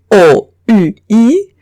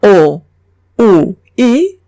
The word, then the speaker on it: oui: Si veo una U y una I, o bien O, U, I, cualquiera de estas dos se pronuncian oui. Ejemplo, oui.